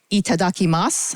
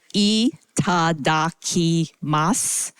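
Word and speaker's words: いただきます: you all to please join me at saying itadaki Mas I'm going to pronounce that a little bit more slowly that is itadaki Mas at the count of three one two three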